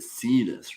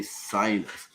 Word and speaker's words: Sidus: out of Germany and he says it see this right but I always want to say Silas but having met him